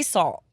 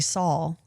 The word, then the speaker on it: salt: But say salt. Salt? You pronounce the T at the end say it again. Salt. You say salt. Otherwise, it would be Saul.